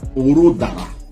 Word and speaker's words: Orodara: pas bien on va dire que j'ai mal prononcé Oro de Oroara Orodara le village s'appelle Oroara et c'est là-bas ils